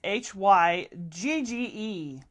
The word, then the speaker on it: hygge: So, okay, it's Hygge.